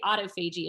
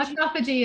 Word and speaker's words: autophagy: I I always say autoagi. Am I saying that wrong? How did autophagy is is the Okay. Well, I I didn't do very well in biology class, so I guess I was saying it wrong.